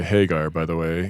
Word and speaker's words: Hagar: girl woman had are um I always say Hagar by the way Hagar yeah I'm influenced by the appropriate uh pronunciation because of Van Halen which all of